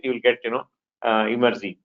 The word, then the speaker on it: Emertxe: People pronounce as Emertxe, right? The right way to pronounce is Emertxe, or easy way to remember is take the word extreme and then reverse it, you will get Emertxe, right?